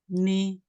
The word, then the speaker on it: knee: For example, like knife, knee, K is silent.